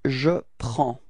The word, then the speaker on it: prends: Okay, so you can see that we've got S at the end and then D as well, but then we don't pronounce them. So actually the only thing we will pronounce for this form is P-R-E-N and it's the sound prend. Okay, repeat.